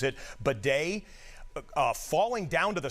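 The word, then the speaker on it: Badie: spelled, it looks, it looks like it says Baddy, B- A D I E, he pronounces it bedet, uh, falling down to the sidelines, evidently on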